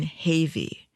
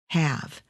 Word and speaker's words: Havy: of the survivors names the Survivor was Orin havy ha a v y I'm assuming it was pronounced that way however my AI Pals smart though they are they pronounce the name have so I just wanted